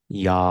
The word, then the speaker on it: yam: So the mantra is YAM, YAM, and you will pronounce it like YAM.